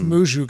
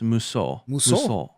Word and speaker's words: Musou: Like out of all the Muju games, are you saying Musou or is that not how you say it? I've always heard people say Muju. Am I wrong? No, it's Musou. Musou.